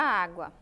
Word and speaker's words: água: sílaba da palavra eu vou pronunciar a palavra água e a água eu faço olha só os ícone Zinho como se ele estivesse gritando ou seja dizendo que finalizando aqui que ia mais forte a água a água